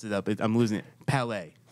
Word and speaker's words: Palet: Palais. Perfect. I said it right. Yeah, okay. You did it good. I always confuse that T and that E all the time.